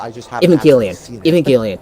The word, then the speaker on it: Evangelion: Evangelion. That's how it's pronounced.